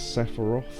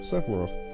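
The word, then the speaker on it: Sephiroth: Now, there's a debate on how you should say his name. I think it's Sepharof, and I'm going to say it like that. So, Sepharov.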